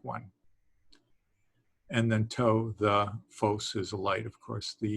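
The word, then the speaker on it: φῶς: And then to, the phos is a light, of course. That's the phi symbol, the PH sound, and that's the omega, which is a long O sound.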